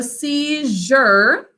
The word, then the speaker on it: seizure: silent final e and it changes in pronunciation from a z to a z because it's followed by a u okay so seizure when followed by a u it changes kind of like in treasure okay say it with